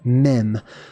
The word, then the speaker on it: mem: explanations of mem and that's how you pronounce that it's mem like Madame MIM if you have ever